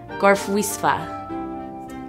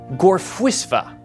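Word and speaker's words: Gorffwysfa: It's a Welsh word. Gorfwisva. Or as the Welsh would correctly say it, Gorfwisva.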